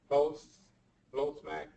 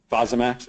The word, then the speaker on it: Fosamax: Now, I'm going to have to take Flosmax. Okay. Flosmax. Fosamax?